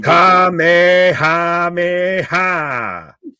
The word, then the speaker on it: Kamehameha: You want to pronounce this shit? Because you know I'm gonna fucking Kamehameha.